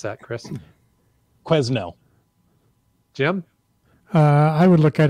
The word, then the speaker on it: Quesnel: I would look at it and assume it was French and say Canel or something, but that's a good one. Three cats? Probably Quesnel. It's Quinnell. No S. Silent S.